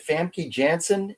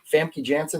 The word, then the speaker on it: Famke Janssen: her name up there oh uh is it fancy jansen is that how you say her name famke janssen that's her um but this was an excellent